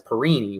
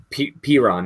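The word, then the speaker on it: Perine: as well, and that's Perini, right? Mm-hmm. Yeah, LaMichael Piron from he's a rookie out of UF. Piron, that's how you say his name.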